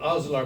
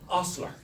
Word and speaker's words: ostler: Bridget's Gardens called Osler Moore. Now, I didn't really know what an osler was back then, but that's a slight mispronunciation of the English word ostler.